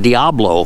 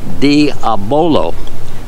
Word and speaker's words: Diabolo: it wrong that is not saying Diablo which is what most people say it's diabolo that's the correct pronunciation